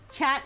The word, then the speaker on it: chat: Chat is pronounced chat in French.